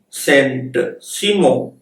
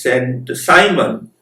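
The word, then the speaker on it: Saint-Simon: influenced by french philosopher sent simo in english he is pronounced as saint simon and agast or agasta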